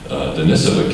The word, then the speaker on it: Denisova: And then there's this interesting discovery of the Homo Denisova, or Denisova. They accentuate the second syllable.